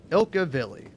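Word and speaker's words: Ilkka Villi: But yeah, Ilka Villi.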